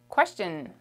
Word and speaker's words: question: Question. Question in French is, what is it? It's question. You don't pronounce the U, it's silent, okay? It's the Q silent friend, okay? We never pronounce it.